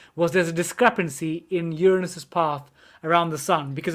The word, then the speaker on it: Uranus: actually had a homemade telescope and they found uranus that's how you pronounce it anyone sorry susan's laughing now uranus